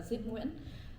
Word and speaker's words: Zip: So I my the name you guys know of me now is Zip uh Zipu. Um and Zip is how my middle name is pronounced.